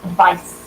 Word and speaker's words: advice: But Now, the noun is pronounced with a sibilant S. Advice with a C.